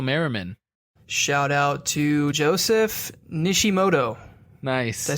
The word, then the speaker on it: Nishimoto: Shout out to Joseph Nishimoto.